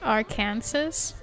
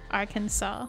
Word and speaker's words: Arkansas: Arkansas ar Arkansas arasaw I also thought it was our Kansas until someone corrected me and said no it's Arkansas and I'm like but it's spelled like senses both with an R and a saw.